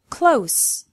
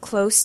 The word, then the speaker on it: close: form yet pronounced differently close with an S sound I live close to the beach close with a Z sound please close the door use with an S